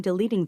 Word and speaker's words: deleting: Maybe you should try deleting them completely. 아, deleting. 그죠? Maybe you should try deleting them completely. 트 발음을 거의 안 하고 있죠.